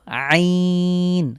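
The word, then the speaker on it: عين: পাচ্ছি লক্ষ্য করুন প্রথম লেটারটির নাম হলো আইন আ অবশ্যই কন্ঠে চাপ দিতে হবে এটি হলো হলক থেকে উচ্চারিত হরফ কন্ঠবর্ণ আইন এবং হা এই দুটির মাখরাজ সেম সুতরাং আমরা আইন কন্ঠে চাপ দিয়ে উচ্চারণ করব আইন ঠিক আইনের মতনই দেখতে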